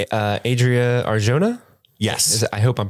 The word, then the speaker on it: Adria Arjona: love Bix Colleen what's the actress's name uh Adria Arjona yes I hope I'm pronouncing that right that is correct uh however